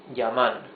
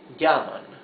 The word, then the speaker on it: llaman: So here it's ellos, not ellos. No, ellos. Here it is not llaman, it is llaman.